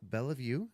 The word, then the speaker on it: Bellevue: Our guest today, Miss Bellevue. Did I pronounce that correctly? Bellevue, close. Bellevue. Okay, Bellevue.